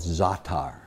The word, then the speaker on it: za'atar: There's a spice in the Middle East called za'atar. Za'atar, exactly. It's spelled Z-A-A-T-A-R.